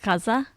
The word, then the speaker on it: Gaza: correctly now but I hearing people pronounce it Kaza Kaza yeah like a little a little bit of a GH yeah um it's very